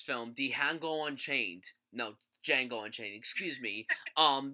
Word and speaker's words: Django: the hangout unchained no django unchained excuse me um that's how i pronounced it the first time i saw it before he said his name was django um dion go unchained um quentin tarantino directed